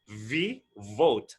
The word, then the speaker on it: vote: cast your vote and it should be pronounced with a v with some air v vote not both the other